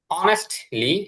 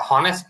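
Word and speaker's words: honest: অনেস্টলি, এটা হনেস্ট না, অনেস্ট, জি।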